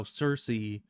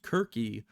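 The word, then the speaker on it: Circe: kind of like how Cersei is actually as far as I know in Greek pronounced Kirky because the C isn't a softer sound it's more of a hard C at least that's what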